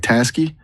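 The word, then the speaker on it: Taski: If you're looking at task, I like t a s k i. It sounds like tasky, which is friendly, but maybe not as CEO as you want.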